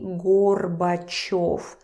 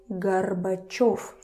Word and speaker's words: Горбачёв: Yo is stressed. So this o turns to... You don't say Gorbachev. You say Gorbachev.